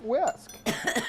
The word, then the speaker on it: whisk: and i'm just gonna whisk this up with my whisk when i was typing up the script i learned that whisk is an h in it five tacks h is silent all right take a